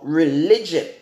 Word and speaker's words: religio: for religion okay ah the word religion in the Latin word is pronounced as religion it adjusts Arielle I G I know just religion or just religio Amen or however you want to pronounce that that's how it's pronounced in Latin and the definition for